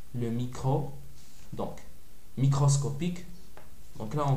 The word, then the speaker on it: micro: micro microscopique microscope donc le symbole c'est un MU alphabet grec mais ça se prononce micro c'est pas mu par exemple si j'ai